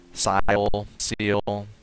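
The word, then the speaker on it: Siel: I think that's how you pronounce it. Seal, S-I-E-L.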